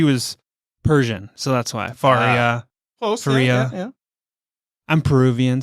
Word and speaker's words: Faria: was going to see if you're going to pronounce my name correctly and you did not what is it Faria ah everybody else growing up her name was